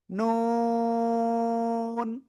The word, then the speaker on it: নুন: যেবার আগা তার বরাবর উপরে তালুর সাথে লাগাবেন লাগিয়ে চার আলিফ টানে উচ্চারণ করবেন নুন নুন প্লিজ সবাই একসাথে